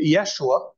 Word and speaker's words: Yeshua: Joshua we often say Yeshua yes which is a proper pronunciation of his Hebrew name but if we were